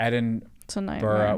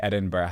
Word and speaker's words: Edinburgh: Like, it's real, like, it's going to Edinburgh would feel like the beginning of the Hunger Games, and they're all running towards the knife.